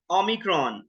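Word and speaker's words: Omicron: में फॉक्स उसके बाद ओम क्रॉन ओम क्रॉन ओ की तरह ही है नॉट में जैसे यूज होता है नट उसके बाद है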